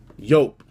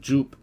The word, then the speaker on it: Joop: made it into perfection with this okay is yoke or Joop as the unn I guess the uneducated on how to pronounce that name would call it Joop anyways there is a little similarity there I'm